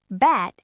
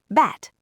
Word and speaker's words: bat: Bat has an unvoiced t, so the vowel's fast. Bat. Bad has a voiced d, so the vowel's long. Bad. Even if I whisper the end of the word, you know I'm saying bad because you heard the length of the a.